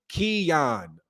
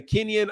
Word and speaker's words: Keon: And it's pronounced Keon. So what did I say? Kenyon. Oh, I'm sorry. I put that in there. You know why? Because there's that in. I mix up letters, bro.